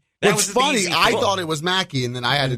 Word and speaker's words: Machi: as well done which is also Mackey spelled em achi hmm not spelled like wacky yeah neither of those